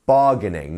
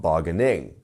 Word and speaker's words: bargaining: have bargaining bargaining and once again we have our stress here right at the start of the word so bargaining not bargaining you see it's going